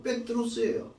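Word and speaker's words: Πέτρος: 베드로가 아니고 백드로스예요.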